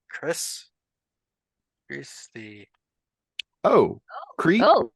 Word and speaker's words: kris: The knife you saw was I believe it's pronounced Chris.